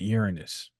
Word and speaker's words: Uranus: into 1988 as well we're looking at Saturn and oranos some people pronounce it Uranus Saturn and oranos in